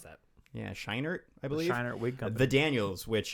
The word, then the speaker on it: Scheinert: it correct earlier yes yes that's how you pronounce that yeah shiner i believe the daniels which uh if you don't know about them they also directed swiss army man from 2016.